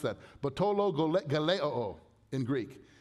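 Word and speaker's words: βατταλογέω: Batologeleo in Greek. It sounds like what it means. It's an onomatopoeic word.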